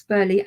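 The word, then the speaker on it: Burghley: have It Beaver Castle Burley house Burley as in um Lord Burley of Elizabeth the first Fame Chatsworth house which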